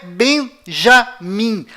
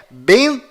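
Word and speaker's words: בנימין: Israel é além disto não é Benjamim a pronúncia correta é benam pois lembre-se até hoje não existe em hebraico nenhuma letra com som de J confira é benam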